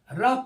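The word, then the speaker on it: rough: पढ़ते हैं ऐसे ही आर ओ यू जी एच रफ पढ़ते हैं टी ओ यू जी है टफ पढ़ते हैं यानी यहां पे देखेंगे ओ गायब हो जाता है और यू का उच्चारण होता है इस प्रकार से अगला आप देखेंगे कह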